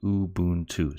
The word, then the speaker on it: Ubuntu: of you sure how to pronounce this word Ubuntu most people say it's actually pronounced Ubuntu so boom - so I'll try and keep